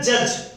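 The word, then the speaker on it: judge: वाक, इसे कहते हैं जज। सब लोग जानते हैं जज, लेकिन डी साइलेंट हो जाता है।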